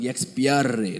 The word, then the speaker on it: Expiare: You have to roll the tongue. Expiare. That's how you pronounce it.